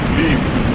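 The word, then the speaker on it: ह्लीं: जब ह आपका अर्ध ह है तो उस ह को आपको गले तक ही उच्चारण करना है, पूरा ह उच्चारण करना नहीं है।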